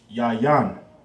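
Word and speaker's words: יין: That'll be pronounced yayan.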